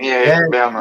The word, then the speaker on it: Werner: W, but Werner with a V.